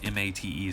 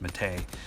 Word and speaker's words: Mate: It's called Brisk Mate, spelled M-A-T-E, so it looks like Brisk Mate, like maybe it came from Australia, but apparently it's pronounced Mahtay.